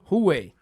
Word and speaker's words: Huawei: How'd you pronounce it? Hua? Huawei.